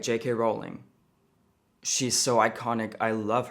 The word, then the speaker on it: Rowling: It actually rhymes with ruling. That's right, JK Rowling.